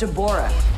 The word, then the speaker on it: Deborah: It's pronounced Deborah.